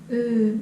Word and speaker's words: öö: Öö. Öö. This is also, well, at least how I learned is same as English but in British.